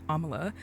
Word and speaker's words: Amala: to butcher it, but I do know Amala is how you pronounce her first name because she has said it before in interviews.